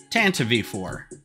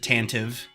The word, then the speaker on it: Tantive IV: so this is the Tanta V4 and it's pronounced tanav V4 tanv V now I know everybody in their brother pronounces it tantive um but it was made Canon from the